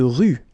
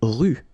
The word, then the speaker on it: rue: Une rue. Okay, remember final not pronounced. Une rue.